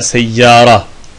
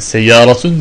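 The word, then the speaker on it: سيارة: Örneğin de seyyaratun veya seyyara. Yani seyyaratun diye aslında biz bunu okuyoruz çünkü sonuncu harfte bir zamme, çift zamme yani temin olduğunu biliyoruz. Ama Arap bunu böyle telaffuz etmez. Ne der? Seyyara der.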